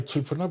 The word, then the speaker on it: tūpuna: I'll say tūpuna because I love that northern pronunciation, as everyone knows.